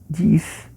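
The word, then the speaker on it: dix: Chamando atenção aí que no francês igual ao seis, né? Parecido, né? A gente tem dis e também quando junta com uma palavra com vogal tem um som de Z.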